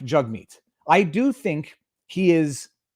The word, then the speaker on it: Jagmeet: meets singh and his name his name is pronounced jug meat i have been pronouncing it improperly jagmeet it is jug mead by his own pronunciation so i'm not making